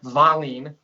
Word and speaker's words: Wallien: I do know my father, he tells me that our last name, which is Swedish, Wallien, in Swedish pronunciation, it's probably not, my pronunciation probably won't be correct, but more like Wallien.